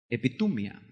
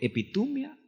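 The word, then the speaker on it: ἐπιθυμία: Pero es epitumia. Claro, no se pronuncia exactamente así, pero así es como la transliteramos.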